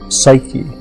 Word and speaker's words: psyche: given a name and the name was susuk in Greek psyche uh is how we pronounce it now and the word means